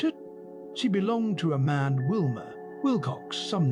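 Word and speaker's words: Mahon: He had a Roman nose, a snow white long beard, and his name was Mahan, but he insisted that it should be pronounced man.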